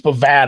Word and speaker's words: Bovada: Bovada has it. What? It's Bovada actually because it's pronounced Nevada.